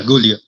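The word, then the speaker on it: Giulia: Congratulations to Gulia. Am I saying it right? Gulia, right? Yeah, Gulia.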